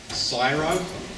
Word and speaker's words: CSIRO: leader of health informatics syro I think it's pronounced which is the government